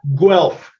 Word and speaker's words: Guelph: Guelph. Guelph. Okay. Yeah, convert the U to a W and you got it.